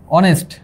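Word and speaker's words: honest: কারণ অনেস্টের উচ্চারণ হচ্ছে অনেস্টের উচ্চারণ হচ্ছে এটা অনেস্ট। যেহেতু ও দিয়ে শুরু হইছে দেখো তোমরা।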